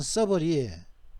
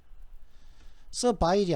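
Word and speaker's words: servile: 형용사인데 서버리. 여기 발음은 중요한 것은 서버리, 예? 서바일이 아니다. 발음은 서버리다는 거죠.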